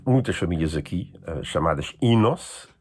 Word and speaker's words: Enos: mas para torná-la curta, afinal o Inos, escrito Enos, pronuncia-se Inos.